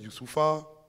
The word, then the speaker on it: Youssoupha: ya c'est donc s'appelle youssoupha donc moi quand je suis arrivé en france c'était dur de prononcer mon prénom et j'ai entendu youssouf you save à mustapha